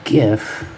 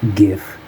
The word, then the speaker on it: GIF: file type so because the G in gif stands for graphics which is a hard G it is GIF not gif I don't care